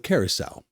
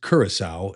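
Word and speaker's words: Curaçao: Uh I got a new tattoo on my knee of the island of Carousel. First of all, it's pronounced Kurissau.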